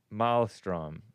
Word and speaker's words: maelstrom: The E is silent, Hake. Maelstrom. Whatever.